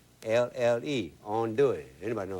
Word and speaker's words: andouille: And today I'm going to cook you some chicken gumbo with andouille in it. That's a sausage that we make in Louisiana just for making gumbo. It's a gumbo sausage. It's spelled Andouille, andouille.